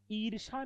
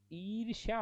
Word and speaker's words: ईर्ष्या: ईर्षा नहीं होता, ईर्ष्या होता है।